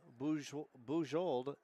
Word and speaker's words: Bujold: But needless to say, Sienna Bujold, that is the proper pronunciation of her name. It's not Bujold, it's Bujold. So in case going forward, it's French.